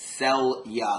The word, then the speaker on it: Celia: mispronounce her name so it's sell you like sell you something and all you guys